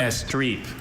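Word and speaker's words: estrepe: Estreep.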